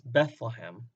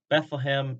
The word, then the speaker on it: Bethlehem: Bethlehem is our English pronunciation of the Hebrew compound word Bet-lechem.